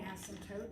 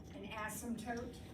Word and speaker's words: asymptote: what um what's an asymptote does anybody know asymptote I know what that is by the way the word has a p in it that is silent SM code there's no